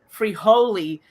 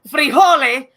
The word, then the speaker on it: frijole: and then have everyone call him free holy instead of frijole which is what uh you know these the actual pronunciation i mean that guy